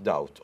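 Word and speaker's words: doubt: شك بلا شك وذاوت داوت الله الله ها تستخدمها بموضوع انشا الله اكبر الان وذاوت داوت طبعا بيز سايلنت البي لا تلفظ وذاوت داوت معناها بلا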